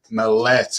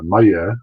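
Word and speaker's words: Maillet: real name is Robert Mallet am I pronouncing that right very close it's it's Maya but it's pretty close I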